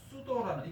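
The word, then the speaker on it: pseudo: 그래서 이게 뭐냐면은 어근으로 어떻게 되냐면은 수도라는 이 피가 묵음이거든요.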